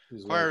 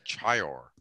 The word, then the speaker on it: choir: So you pronounce it like choir, okay? Yeah, you'd never get it from this pronunciation. Okay. Chior. Chior.